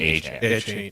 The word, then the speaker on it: Achane: How are we saying this today? He's pronounced his name Achane.